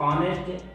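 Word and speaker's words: honest: कुछ ऐसे वर्ड जैसे ऑनेस्ट, अवर, ऑनर, तो इसमें एच साइलेंट है, साइलेंट लेटर का हम वीडियो जो है अपलोड कर चुके हैं, आप देख लेना। और एच जो यहाँ साइलेंट है, इनका जो वॉवेल साउंड बनता है वो बनता है ऑ, ऑनर, ऑनेस्ट, अवर।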